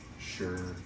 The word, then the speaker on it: Suhr: I think it's Shure. It's SUHR. Okay.